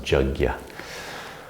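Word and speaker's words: yajña: the whole yoga path yagya sometimes pronounced jagya offering sometimes translated as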